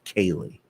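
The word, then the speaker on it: céilí: No, in the Ceilithe, but it's pronounced Cayley. Kaylee. Cayley. Like my friend Kaylee.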